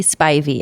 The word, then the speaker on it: Spivey: on all the social medias at it's spy v s-p-i-v-e-y nice yeah you can find me at